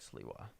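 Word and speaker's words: Sliwa: It's S L I W A sounds like Siwa.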